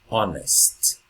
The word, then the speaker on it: honest: And here we can see the H, but we don't pronounce it. Our, honest.